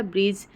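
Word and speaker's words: bridge: जाएगी फ्यूचर में कि जब भी जी के बाद या जी के पहले डी आता है तो तो वहां पे डी साइलेंट हो जाता है यहां पे हमने एग्जांपल देखा ब्रिज एज हेज और वेज ठीक है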